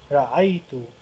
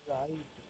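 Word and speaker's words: رأيت: Ra'aitu. It is pronounced ra'aitu.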